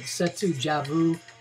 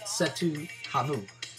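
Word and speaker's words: Cetu Javu: Setu Havu, I was told I was saying the name wrong. I used to call it Setu Javu. God told me it was Setu Havu.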